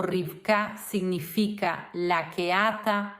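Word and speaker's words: רִבְקָה: Rebeca se pronuncia rifka y es uno de los nombres cuyo significado no conocemos con certeza, pero creemos que viene de la misma palabra que atar.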